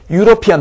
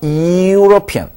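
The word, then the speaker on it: European: 자에 꼬리가 달린 거죠 유로피안 마찬가지 피안이 아니라 유로피언 요것은 혼자서 존재할 수 없는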